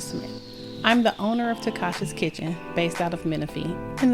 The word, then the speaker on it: Tacasha's Kitchen: You can find Takasha's Kitchen on all social media networks such as Instagram, Facebook, TikTok, and my YouTube channel at Takasha's Kitchen. And that's spelled Tacashas Kitchen, Kitchen.